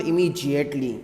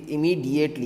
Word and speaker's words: immediately: e l y immediately it is not immediately it is immediately yes many students i